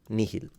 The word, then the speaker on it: nihil: I would just say that when you pronounce the H in classical Latin, I wouldn't exaggerate it. I would pronounce it as a soft H rather than, like, you don't have to go into like an Arabic sounding H. Just a soft pronunciation, and that's how I would do it.